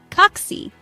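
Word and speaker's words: kaksi: word kite then say oxy it rhymes with taxi notice how the a in Oxy is short and sharp similar to the a in Cat Imagine taking a taxi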